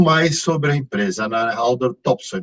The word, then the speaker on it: Haldor Topsoe: Haldor Topsoe, não sei se eu falei corretamente, que é uma empresa dinamarquesa. Me conte um pouquinho da empresa. Bom, Haldor Topsoe pronunciou corretamente, né?